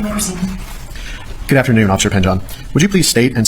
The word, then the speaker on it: Pingeon: Yes, you said it's pronounced Pinjon? Pajon.